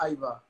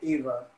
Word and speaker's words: Aiva: Okay, so it's pronounced Eva, not Iva, actually.